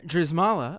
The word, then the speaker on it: Drzymala: the information is in the description uh Sam dzala oh I said it right this time you